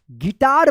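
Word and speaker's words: guitar: गिटार पढ़ेंगे। यहां पे जो है ना जी यू साइलेंट रहेगा।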